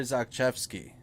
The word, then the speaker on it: Zakrzewski: Pierre Zakrzewski. That's how you say it.